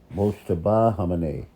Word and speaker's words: Mojtaba Khamenei: He's the Mojtaba Khamenei.